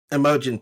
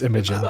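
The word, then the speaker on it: Imogen: So the I mean and Emojin Poots was the uh lead actress. Wait, did I say that wrong? Yes, it's Imagin.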